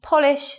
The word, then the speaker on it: Polish: by looking at an interesting sentence we must polish the Polish furniture polish is an action verb